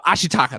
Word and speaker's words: Ashitaka: into like um i gotta make sure i pronounce this right because it is i could i um ashitaka that's right ashitaka struggle is i like how